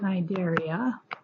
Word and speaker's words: Cnidaria: ahead and do violent Cnidaria and find them that area so the C is silent the C and we don't pronounce the C so this includes jellyfish